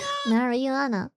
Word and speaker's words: marijuana: English pronounces it more like marijuana. Marijuana. J, not Y.